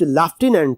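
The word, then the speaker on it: lieutenant: लेफ्टिनेंट पढ़ा जाता है, और अगर हम इसको अमेरिकन एक्सेंट पढ़ेंगे तो इसको लेफ्टिनेंट पढ़ा जाता है। तो because we are following standard English, that is British accent, तो we have to pronounce this word as लेफ्टिनेंट।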